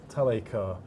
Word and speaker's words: Talacre: And we're we're sitting here in the Talacre, that's how you pronounce it, Talacre Community Centre and you